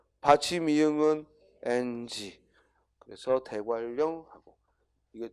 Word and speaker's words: 대관령: 그래서 대관령이라는 낱말을 대관령 하면 발음하면 표기에는 니은 리을이지만 발음하면 어떻게 돼? 대관령 리을이 발음된단 말이야.